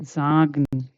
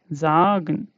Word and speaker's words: sagen: Okay, then the sound is Z in English, Z. Okay, let's take example. Okay, sagen. Here this becomes Z. Okay, za, sagen.